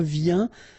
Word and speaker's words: viens: Je viens. Final S not pronounced, okay? And when you combine this IEN, you get this yin, yin.